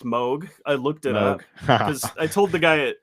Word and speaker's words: Moog: Bob Moog himself, he said it's pronounced like Vogue.